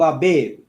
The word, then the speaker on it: Abib: Observe the month of Abib, which in the Hebrew, so like I'm just going to get in the Hebrew, how do you say Abib, which is Abayab, right?